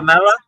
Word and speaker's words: Kumbh Mela: The Oh, Kambala. Kumbh Mela.